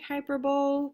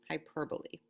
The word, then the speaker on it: hyperbole: be calling it a hyperbole it looks like hyperbole but it's pronounced hyperbole a hyperbole is an exaggeration or an overstatement